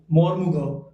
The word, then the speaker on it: Mormugao: ठीक है, अगर हम इसके स्पेलिंग की बात करें, इसकी स्पेलिंग है MORMUGAO, मोर्मुगांव, मोर्मुगांव सी पोर्ट।